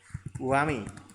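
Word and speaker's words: whoami: Wo, wami. Coba aja, klik. Nah, ya WMI sebenarnya ya. WMI, tapi wami. WMI. WMI ya, WMI. Wami ya biasa bacanya Wami.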